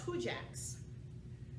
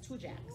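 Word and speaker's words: Tujague's: created it was in new orleans it's called two jacks it's spelled t-u-j-a-g-u-e apostrophe yes two jacks oh is that like the french kind of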